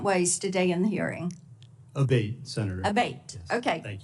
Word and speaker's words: Abate: We've heard it pronounced 3 different ways today in the hearing. Abate, Senator.